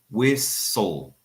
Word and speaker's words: whistle: So Luan says whistle. Good. That is a very good case of elision because the T is silent.